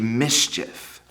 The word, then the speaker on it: mischief: The night Max wore his wolf suit, he made mischief. What's mischief? Can we pad out those syllables, mischief? Ready? Mischief. 2 syllables.